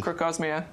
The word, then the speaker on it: Crocosmia: No, crocosmia.